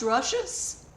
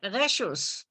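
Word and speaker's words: רשות: How is it pronounced? I know how to pronounce it in Hebrew, not in Yiddish, so. Rachel Gordon, how do you pronounce it? I would just say Reshus.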